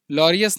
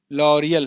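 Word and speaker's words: L'Oréal: और ऐश्वर्या राय को लरियस नहीं है ये लॉरियल है लॉरियल होना चाहिए लोरियल ये वाली जो कंपनी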